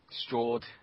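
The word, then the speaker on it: Sjord: SJ o r d stord it's like Nord but with an stro varis you probably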